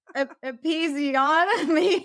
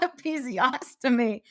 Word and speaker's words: episiotomy: But episiotomy, not episiostomy. See, we all have our things we need to pronounce.